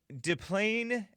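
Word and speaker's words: Des Plaines: Let me get to Craig out of DePlaine, Illinois. Am I pronouncing that right? DePlaine? Yes, you are, sir.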